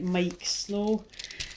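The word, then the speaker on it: Miike Snow: So when I was tuning in your energy, Gemini, I was getting the song by Mike Snow. Now you can check that song out on YouTube. It's spelled Miike, Snow.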